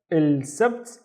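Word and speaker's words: السبت: ba with no vowel, so it's sabt, sabt, il sabt, and il sabt is Saturday, il sabt.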